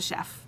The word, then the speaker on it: Chef: My last name's de Chef, but it's French, so it's spelled chief.